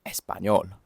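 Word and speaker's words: español: Take for example the name of the language, espanol. That was how it's pronounced in Spanish.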